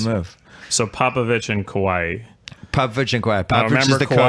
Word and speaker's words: Kawhi: So Popovich and Kawhi. Popovich and Kawhi. Popovich is the coach. Because Kawhi is like an island. Kawhi. Right, Hawaii.